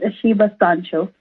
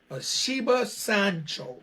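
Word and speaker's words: Asheba Sancho: cause i'm from down south did i properly pronounce her name yes you are absolutely correct it's a shiva sancho a shiva sancho all right so the first thing i gotta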